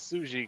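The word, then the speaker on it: Tsuji: right I mean I I knew it was suji because I know the TS in Japanese when you put that together is silent that's fair you don't pronounce it yeah of course that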